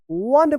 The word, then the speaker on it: one: तो ONE, क्या पढ़ेंगे इसको, वन पढ़ेंगे, वन, COLD, कोल्ड, MORNING, इसको क्या पढ़ेंगे, मॉर्निंग पढ़ेंगे, मॉर्निंग, क्या पढ़ेंगे, मॉर्निंग पढ़ेंगे। तो वन, कोल्ड, देखिए यहां पे वन, यहां पे ओ का अ उच्चारण हुआ, यहां पे ओ उच्चारण